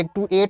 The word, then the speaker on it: actuate: अगर TU है तो आप क्या कहेंगे, टी, टू नहीं बोलेंगे, क्या बोलेंगे, इसको च बोलेंगे, च प्रोनाउंस करेंगे।